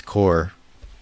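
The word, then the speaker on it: corps: So this is a pet peeve of mine in wargaming, is when people don't pluralize core. Like, it's not plural, it's just how it's spelled. It's core.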